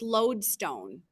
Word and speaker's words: lodestone: I thought that was an I, it was an L. So it's lodestone.